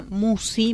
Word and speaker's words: Musci: El canal lleva mi nombre, Musi. Musi se escribe Musci.